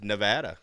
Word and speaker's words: Nevada: This was in Nevada, Handler, as we've now learned how to correctly. It is pronounce Nevada. it. Gotcha. It's Nevada. Yeah.